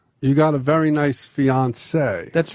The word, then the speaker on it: fiancé: You got a very nice fiancé. That's right. Fiancé.